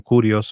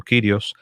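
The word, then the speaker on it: κύριος: Kyrios, algunas veces algunos pronuncian curios o Kyrios, es un título divino.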